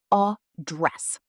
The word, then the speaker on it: address: Pronunciation is a dress. Stress on the second part.